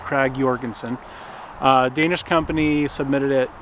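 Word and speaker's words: Krag–Jørgensen: Danish company called often times referred to as Craig Jorgenson but it was actually pronounced Craig Jorgenson uh Danish company submitted it the US Army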